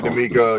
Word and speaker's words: D'Amico: So I'm rooting for D'Amico, I think it's pronounced D'Amico or DeMarco. Yeah, D'Amico, yeah. I'm rooting for the brother.